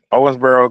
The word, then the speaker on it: Owensboro: um all right so when you got to Owensboro and that I'm saying it right right Owensboro yeah Owensboro Kentucky uh so so you went through what